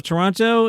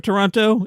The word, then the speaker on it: Toronto: Alex Wood's favorite part of Toronto is the hipster part of Toronto. It's called Toronto. Canadians like you're over pronouncing there. I'm supposed to swallow that second T, right? Like Toronto.